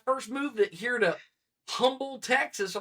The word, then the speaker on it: Humble: And he's like, it's Humble. I was like, dude. I'm just saying, it spells like another word. H-U is the H is silent.